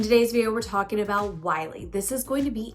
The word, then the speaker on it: Wyelea: Now you may think it's Wyelea, but it's actually pronounced Wylie.